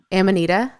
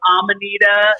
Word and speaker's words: Amanita: Amanita? Am I saying that right? I mean, that's the way we say it. Okay. Some people say Amanita. Some people say Amanita.